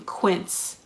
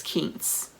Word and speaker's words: quince: say anything you guys all my life i've been pronouncing quince as kings because i thought that's how it was pronounced i am wrong it's quince why anybody tell me granted